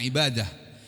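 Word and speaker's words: عبادة: Saudara hakikat dari menyembah ibadah ibadatun ibadah ya tulisannya ibadatun membacanya ibadah.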